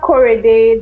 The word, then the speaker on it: Korede: But what are well, how do we correctly pronounce the sisters' names? We have Korede, that's the older sister and the narrator of the book.